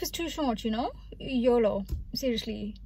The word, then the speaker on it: YOLO: YOLO. Seriously. Emphasis on the last O.